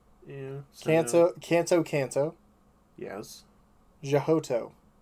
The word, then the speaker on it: Johto: sinnoh cena right yeah canto canto canto yes jahoto jehota ah i say jojo but it is jonah i'm i'm joking i was like it was you were like and i was like that's johto is what about hoenn yeah owen univer yeah